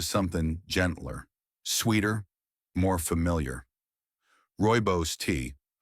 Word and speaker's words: Rooibos: Rooibos tea. Often pronounced ROY-boss, this South African herb is naturally caffeine-free, rich in antioxidants, and smooth on the stomach.